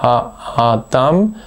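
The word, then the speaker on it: האדם: Bitte hier auf das Metek achten, das eine kleine Nebenbetonung angibt, neben der Hauptbetonung auf der letzten Silbe, ha-a-dam.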